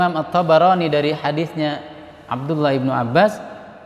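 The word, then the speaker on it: الطبراني: Beliau selalu mengingatkan kami, bacanya At-Tabarani bukan Tobroni. At-Tabarani.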